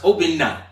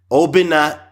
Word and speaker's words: Obinna: Well, it's actually pronounced Obinna and. Obinna and.